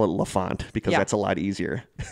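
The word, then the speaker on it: L'Enfant: think I'm solved mysteries pronounce that Lafont like a French name it's a French word for the child oh so I'm just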